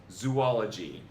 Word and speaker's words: zoology: All right, number 12, zoology. The correct pronunciation here is going to sound crazy, but it's true. It's not zoology, it's just zoology. Rhymes with eulogy.